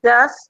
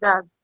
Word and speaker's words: does: let's check yes do okay a how we pronounce the last word and show us the difference yeah does the first one is does and the second is does I don't know if you talk about that